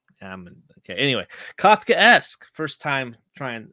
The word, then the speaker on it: Kafkaesque: capes how do you say this word it's Kafkaesque they said it enough times in the episode I'm an idiot I didn't realize put two and two together Kafkaesque I'm okay anyway Kafkaesque first time trying saying that first try this